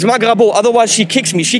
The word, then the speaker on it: Magrabo: with francesca from magravo not magravo that's wrong don't say it wrong it's magravo otherwise she kicks me